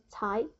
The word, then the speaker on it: 才: So the whole character, the 才, this character is pronounced as 才. Okay? Because it's really hard to type, I have /2, which means it's second tone. It goes up, 才.